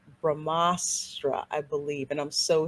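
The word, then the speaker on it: ब्रह्मास्त्र: the film is called brahmastra i believe and i'm so sorry if i got that wrong i pronounced it wrong but it's ramastra and part one shiva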